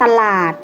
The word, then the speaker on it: ตลาด: สังเกต กัน นะ คะ เวลา อ่าน จะ อ่าน เหมือน มี หอ หีบ อยู่ ด้วย เช่น คำ สั่ง อื่น อ่าน ว่า สั่ง น อื่น ๆ ตลาด อ่าน ว่า ว่า ตลาด